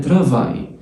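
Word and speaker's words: travail: ان ترافاي، ترافاي عندك الاي والاي والال اللي هي الا والاي والال بيتنطقوا اي تبقى ترافاي، ترافاي عمل او شغل.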